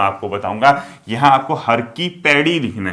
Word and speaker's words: हर की पैड़ी: बहुत से लोग अभी भी हर की पौड़ी कहते हैं, हर की पौड़ी नहीं होता है, हर की पैड़ी होता है।